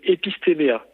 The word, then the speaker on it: Epistéméa: C'est quoi le nom exact? C'est Epistéméa. Epistema.